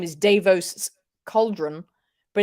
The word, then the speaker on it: Davo: like it that's a theory I love it Davos oh it was also I I actually I feel like people are mispronouncing his his name is David like if